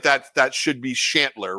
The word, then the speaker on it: Chantler: I mean, seems like that should be Chantler, right?